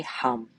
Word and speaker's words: hum: so s o and as you exhale say hum hu M hum so hum so